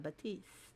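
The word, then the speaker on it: Baptiste: Pierre is much easier to say than Batiste. The P is silent in the Batiste. Why didn't they just spell it without the P?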